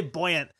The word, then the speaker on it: buoyant: I would say buoyant, but also I know Americans get made fun of for the way that we pronounce buoy instead of boy, which is so buoyant. So buoyant is a thing that people are going to not make fun of anyone for.